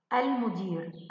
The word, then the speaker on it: المدير: يا ترى كلمة المدير هنا، المدير، المدير، نطقنا اللام ليس كذلك؟ نعم، إذن هي لام قمرية، هذا بالإضافة إلى وضع السكون. بارك الله فيك، تأكدنا بذلك أنها لام قمرية.